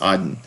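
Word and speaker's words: AREDN: known as broadband hamlet and a-r-e-d-n sometimes pronounced arden okay next topic we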